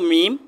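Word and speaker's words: ميم: প্রথমে হলো মিম, 2 ঠোঁটের শুকনা জায়গা থেকে উচ্চারণ হবে মিম।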